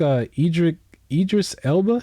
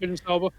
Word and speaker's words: Idris Elba: I think Idris Elba, is that his name? Did I say it right? Idris Elba.